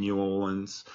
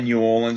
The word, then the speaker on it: New Orleans: I always say New Orleans. I know everyone says New Orleans in Australia, but like when you're over there, you're sort of supposed to say New Orleans. Yeah. Because that's how they say it.